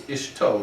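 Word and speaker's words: אשתו: Let's see, in this week's parsha, ishto, not ishto, it's ishto, his wife. So that's a Hirik katan under the aleph, similar to the English word, the English short I.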